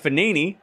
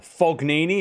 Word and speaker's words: Fognini: By the way, Basilashvili takes out Fognini. Or Fognini, if you want to be literal with it. But the G is silent.